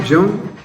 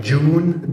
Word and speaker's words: Jaune: Like June, Jaune, yeah, June. Yeah. And like all the Spanish people also can't really pronounce my name. Because the J there is silent. Jaune.